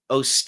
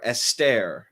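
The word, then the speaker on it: Eostre: uh goddess of fertility called OST or EST you understand it depends on however you want to pronounce it but the but the uh the spelling is e o s t r e you can see where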